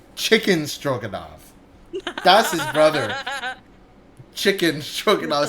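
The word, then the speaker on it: Tchikin: Chicken Stroenov. Spelled with spelled T C H I K I N. I think chicken.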